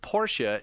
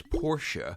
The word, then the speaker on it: Porsche: And we're talking about how the word Porsche is pronounced.